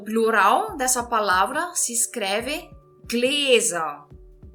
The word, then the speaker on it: Gläser: O plural dessa palavra se escreve gläser. Gläser. Gläser. Estão vendo aqui o que está acontecendo? Eu estou pronunciando com som de Z. E que letra eu escrevo se eu estou pronunciando um Z no alemão?